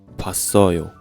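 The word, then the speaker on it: 봤어요: So, we speak we pronounce like pa so yo.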